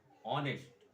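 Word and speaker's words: honest: इसका असली उच्चारण क्या है, ऑनेस्ट, ऑनेस्ट मैन।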